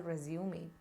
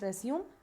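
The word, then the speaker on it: résumé: like to clarify something have you heard me pronouncing it as resume if so it is absolutely wrong it is actually resume resume means a progress of a work whereas the one that we look for now is pronounced as resume got it so with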